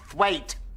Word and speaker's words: Twat: Twat. It's pronounced thwait.